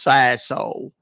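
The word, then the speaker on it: Sassohl: It's French and everybody gets it wrong.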